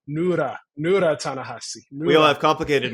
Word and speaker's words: Ta-Nehisi: Right, and then you pronounced it wrong just now, so that's my revenge. Say it again. Ta-Nehisi.